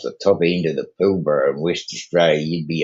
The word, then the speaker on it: Pilbara: It's called the Pilbara. It's spelled Pilbrough, right? Oh, almost like Marlboro. Okay. Yeah, Pilbara.